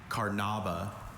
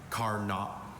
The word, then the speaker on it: carnauba: Your word is carnaba.